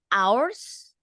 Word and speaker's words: hours: hours a day okay hours we don't pronounce the AG in this case hours a day a